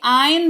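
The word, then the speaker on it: iron: स्त्री करें आइंदा क्लॉथ इसको आयरन नहीं बोलते हैं प्लीज रिक्वेस्ट कर रही हूं आयरन नहीं बोलते हैं भाई आयन बोलते हैं क्योंकि यहां पर जो है आर साइलेंट है और साइलेंट लेटर्स की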